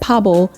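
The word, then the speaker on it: 바보: Basically, Suga was off to the side telling Victoria that Pabo means like cool and dope. So she's like, "Oh, V, you Pablo."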